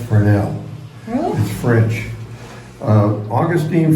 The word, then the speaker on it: Fresnel: name of their nana you need to wait fresnell well it's pronounced fernel French uh Augustine fernell is the one that developed the lens the